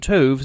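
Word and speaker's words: toves: as in Wrath and tovs is pronounced as to rhyme with Groves again the first o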